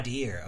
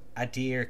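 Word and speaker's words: Aedyr: I'm a trader, originally from the Adir Empire. Adir, okay. Pronounced nothing like it's spelt.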